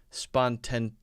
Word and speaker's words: spontaneity: Part is, I think, spontaneity.